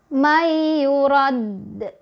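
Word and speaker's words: يراد: nya kan qqolah ya Kalau berhenti Dal bertasdid kemudian berhenti maka kita bacanya jadi mayyurad mayyurad mayurad seperti itu ya jadi dalnya tahan dulu May yurad gitu karena dalnya bertasydid kemudian contoh yang ketiga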